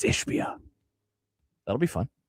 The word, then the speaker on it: Ishbia: You said the name wrong. It's Ishbia.